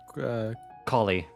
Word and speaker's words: Collei: How do we say her name? Collei. Collei.